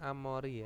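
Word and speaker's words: 앞머리: Terus ada amori. Nah, bacanya amori ya.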